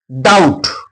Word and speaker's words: doubt: B will remain silent. For example, doubt. D O U B T which is silent letter here. B is silent. Doubt not doubt. Debt, not a depth. Here is silent.